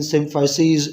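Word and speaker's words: symphyses: एक सिम्फाइसीज, अगेन सिम्फाइसीज ये plural term है, सिंगुलर इस्तेमाल करोगे तो यहाँ पे आई आ जाएगा और इसको आप सिम्फाइसिस प्रोनाउंस करोगे, और प्लूरल में सिम्फाइसीज।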